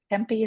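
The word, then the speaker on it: tempeh: um which would be good budall with temp tempy is that how you say it te oh Tempe yes yes Tempe um so yes on cookie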